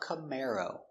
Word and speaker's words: Camaro: Camar camar camar o camaro. Camaro stress on the second syllable.